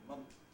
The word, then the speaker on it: month: For example, in the word month, you may sometimes hear people pronounce it with a plosive between the N and the th, that is saying month, month, rather than month.